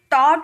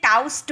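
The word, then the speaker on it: taught: D fraud वैसे ही टी ए यू जी एच टी इसे टॉट बोलते हैं ना कि टॉस्ट बोलते हैं ठीक है बहुत सारे स्टूडेंट क्या करते हैं ना इसे टाउस्ट बोलते हैं।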